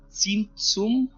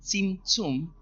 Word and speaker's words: Tzimtzum: ¿Oyeron hablar alguna vez del Tzimtzum? T-Z-I-M, T-Z-I-U-M. Tzimtzum. Así creo que se pronuncia algo así.